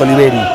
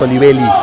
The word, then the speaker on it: Olivelli: el capitán perd no es oliveri es olivelli con l está pronunciando mal pero bueno cuestión